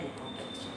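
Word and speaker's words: découpage: Misalnya decoupage, bacanya decoupage.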